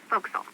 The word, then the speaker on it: forecastle: ship but it's pronounced focus off why is that try pronouncing it like an English sailor with no formal education Oh castle oak so